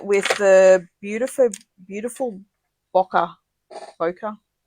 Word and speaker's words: Bokeh: Bokeh. How do you say it? Bokeh.